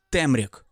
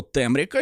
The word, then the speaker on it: Темряк: прийде Не темрява А темряк я думав що буде наголос темряк а він темряк а так то думав